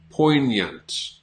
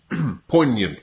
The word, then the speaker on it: poignant: You don't pronounce the G, and then you almost have a Y sound after that. Poignant. Poignant, but it's a schwa after that.